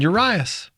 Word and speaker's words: Urias: time so I didn't I'm saying uras well that's that's correct I mean there's different